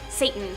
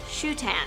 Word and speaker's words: Satan: Anton, Satan, Kid Blackheart, or as he insists his name is pronounced, Anton Shutan.